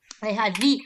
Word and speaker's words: להביא: Lehavi. You don't read the aleph at the end, never, because it's like transparent.